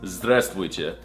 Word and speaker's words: Здравствуйте: No, that's not how you say it. It's Здравствуйте.